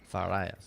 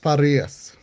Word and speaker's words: Farias: Farias? Farias. Farias. Farias. It's Portuguese, so it's kind of like a D and an R.